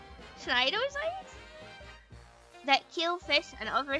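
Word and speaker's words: cnidocytes: How do you pronounce a C and an N next to each? SN snidosites. Snidocytes that kill fish and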